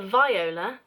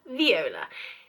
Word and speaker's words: viola: acknowledges that the audience is there how to pronounce viola it is not a viola it is a viola now i always say viola is the flower